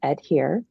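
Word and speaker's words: EDHIR: i created so it's it's pronounced as the word adhere which means to be true to and but it's uh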